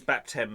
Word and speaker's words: baptem: Yes, so it's baptem because it's got to rhyme with him, I think. So that's why it's left as baptem.